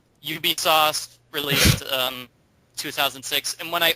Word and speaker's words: Ubisoft: How do you pronounce that company's name? It's Ubisoft. Yeah. Ubisoft, released 2006.